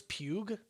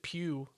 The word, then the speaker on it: Pugh: did you say florence pugu that's her name p-u no i'm pretty sure it's she pronounces it pew because like people ask